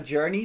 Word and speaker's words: JRNY: It's Once Upon a Journey, but then journey not spelled without the vowels. So it's JRNY.